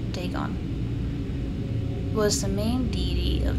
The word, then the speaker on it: Dagon: the fish god okay dagon pronounced dagon was the main deity